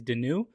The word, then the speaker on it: Denoux: mispronounces your name to tell them it's in with or out with the old and in with Denu.